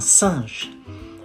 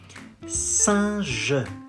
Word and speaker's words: singe: You say un singe. A monkey, un singe. Singe, singe, singe. The final E is silent, so you say singe.